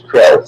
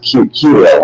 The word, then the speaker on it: Kirill: So I thought it was Krill, so now it's Kirill. Okay. Americans pronounce Creole, but Yeah, that's what I thought.